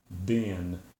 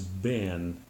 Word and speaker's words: been: a short I sound whereas in Great Britain in Australia and probably New Zealand in those areas it's pronounced as a long e sound bean so a person from